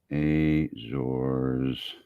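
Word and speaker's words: Azores: four several cruising grounds off the off the Azors. I forget how to say that. Is that how you say that? Azors. It said it earlier and I've forgotten how to do it. Azors pronunciation.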